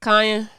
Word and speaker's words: Kanye: right mellow putting all of that pressure on Kanye that's how you say his name yeah okay